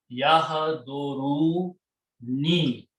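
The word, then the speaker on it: يحضرون: Okay, so actual word is yahduru ni.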